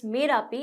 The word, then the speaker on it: Marapi: So our first topic is Volcano Marapi, or pronounced as Merapi in Indonesian language.